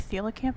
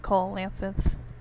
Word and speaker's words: coelacanth: I think this is pronounced like coelacanth or something, but I keep calling it coelacanth.